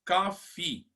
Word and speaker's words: coffee: Café em inglês, coffee. E a tosse em inglês, cough. Cough, coffee. Diferente, né? Porque o café, a gente pronuncia aquele i final.